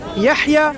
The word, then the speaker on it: Yahya: Yahya Snow. How do you spell that?